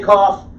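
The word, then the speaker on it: כ: Kaf. Kaf is a letter that has two sounds. A beged kafat letter, and we'll get to that in 5 minutes. Okay? For now, just say Kaf as in king.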